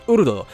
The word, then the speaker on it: Urd: And I don't know why they went with that spelling, but as far as the Dark Road character is concerned, her name is pronounced Urd.